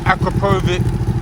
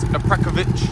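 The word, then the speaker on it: Akrapovič: I know a lot of people pronounce it Akrapovic, but the correct pronunciation is Akrapovic.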